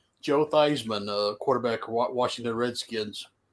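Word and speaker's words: Theismann: allowing uh everybody to pronounce it Theisman because it rhymed with Heisman um that is a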